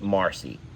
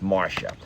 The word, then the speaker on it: Marcia: Marcy wants me to know that her name is not pronounced Marcy. It's pronounced Marcia.